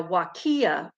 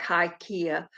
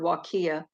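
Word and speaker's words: Huacaya: suri alpaca and a wakiya um and it's spelt really unusual it looks like haikia but it's it's considered wakiya uh christy says i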